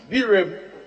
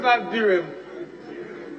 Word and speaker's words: Birim: Birim. The river Birim.